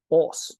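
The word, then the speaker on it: áss: tribe of Odin and when you get to the Old Norse era that would be pronounced OS so from anser to us that's uh that's not a r sound that's an o sound um and we have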